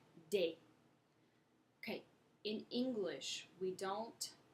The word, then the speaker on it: des: the plural indefinite article des des des pronounce date okay in English we